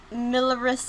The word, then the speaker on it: Mirillis: FaceCam in Steam with milleris action I think is how it's pronounced I really don't know